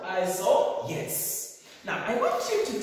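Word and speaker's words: isohyets: So the H letter H is silent.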